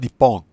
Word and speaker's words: Nippon: If they're speaking Japanese, then they'll call it Nippon.